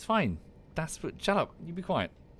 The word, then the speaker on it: Das Boot: My pronunciation of Das Boot is horrible. You're basically saying boring with a T at the end after the O. It's fine. Das Boot.